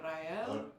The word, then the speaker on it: Rael: You know, Rael. Yep. Rael? Oh, I got it. Or if you're really Mexican, Rael. Rael. If you can roll your R's, go for it.